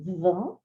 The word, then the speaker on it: vingt: When we say it by itself, we say vingt. Vingt. We only pronounce V-I-N and we have G-T as silent letters.